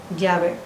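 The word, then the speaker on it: Yahvé: Los hebraístas han llegado al acuerdo general de que la pronunciación original debe haber sido llave.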